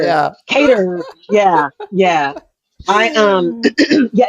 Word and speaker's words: Qatar: I did I did find out how to pronounce it's Qatar it's Qatar that's the New York Times interview to uh